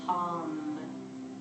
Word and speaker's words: Ham: And on the exhale, Ham, H-A-M. So this is your yoga pose for the mind, this silent whisper paired with your breath.